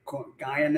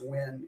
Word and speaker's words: Nguyen: How can you see N- G-U-Y-E-N and not know it's pronounced "Win" if you know anything at all about Asian culture and particularly Vietnamese?